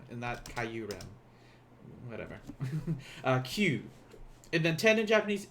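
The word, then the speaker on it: 九: q q remember this this kyu is one syllable in japanese it's not caillou it is q so like when you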